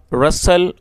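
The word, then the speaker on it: rustle: बाद he heard the रसल of leaves क्या अर्थ हुआ दोस्तों आर यू एस टी एल ई रसल इसमें टी साइलेंट है तो आप इसको सिर्फ रसल पढ़ेंगे क्योंकि टी की प्रोनंसिएशन नहीं होगी जब टी साइलेंट है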